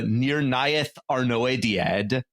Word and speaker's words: Nirnaeth Arnoediad: We bring you today the Battle of Unnumbered Tears, or the Nirnaeth Arnoediad, I suppose. That's how Andy Serkis pronounces it in the audiobook, so I'm going with that.